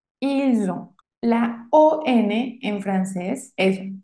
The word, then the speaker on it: ils ont: Y el último, ils ont, también hago la liaison, ils ont, elles ont. Y la T final no se pronuncia.